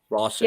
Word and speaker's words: Rawson: Rawson, yeah, awesome. It rhymes.